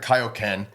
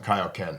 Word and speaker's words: Kaio-ken: this movie was the first time I ever heard it pronounced Kaioken yeah okay yeah cuz yeah in the in the episodes it was kooen and then the movie it was Kaio Ken maybe because it was